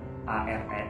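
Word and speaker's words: Ağrı: Jadi tulisannya Are itu bukan ARE tapi AGRI. Tapi karena di Turki ada G yang ada titik atau tanda petik di atasnya, itu adalah dibacanya GU Musyafir. Jadinya kayak nggak terlalu dibaca gitu. Jadi kita bilangnya Are.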